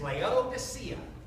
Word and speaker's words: Laodicea: You know, so throughout here, I think I've got this in 20, 25 times, but the correct pronunciation is Laodicea.